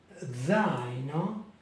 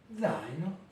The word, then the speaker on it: zaino: Zaino, le sac à dos, zaino, zaino. Ici, comme vous pouvez le voir, les deux voyelles font partie de la même syllabe. L'accent est sur le A.